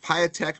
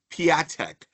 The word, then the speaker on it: Patek: Damon not Patech but Patek Mr. Damon Patek.